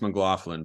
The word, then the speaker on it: McLaughlin: to be on with you guys it is pronounced McLaughlin but don't worry you're only about the 879th